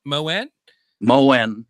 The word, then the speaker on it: Moen: Moan, Moen, just like Moen.